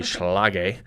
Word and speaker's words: Schlage: So we use the Schlage Encode, and I don't think I pronounced that right. I think it is actually Schlage.